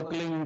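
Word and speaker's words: क्लीं: की मात्रा और बिंदी उसका उच्चारण होगा क्लिंग ग ग की पीछ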